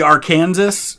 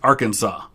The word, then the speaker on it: Arkansas: It's Arkansas. It looks like it should be Arkansas, but it is Arkansas.